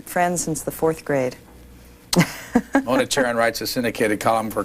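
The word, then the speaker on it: Mona Charen: Mona Charon writes a syndicated column for Creators Syndicate, graduate of Barnard College in New York.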